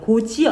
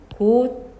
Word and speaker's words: 곧이어: 이거 어떻게 발음? 고지어 안 그러지, 그지? 이거 발음이 고디어 이렇게 됩니다.